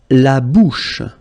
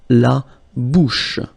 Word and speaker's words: la bouche: La bouche. So remember, CH combined together will give you this sh sound. La bouche.